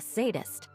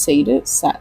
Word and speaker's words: sadist: He's an alchemist, not a sadist. Oh, that's how you pronounce sadist?